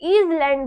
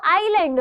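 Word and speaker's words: island: सी silent होता है, आईलैंड जिसको बहुत से बच्चे ईजलैंड बोलते हैं, वो ईजलैंड नहीं होता है, वो आईलैंड होता है, जिसमें एस का क्या रहता है, एस जो रहता है वो साइलेंट रहता है।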